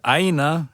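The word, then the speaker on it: ʻāina: And aina has the okina, and it has a kahako on the beginning a sound.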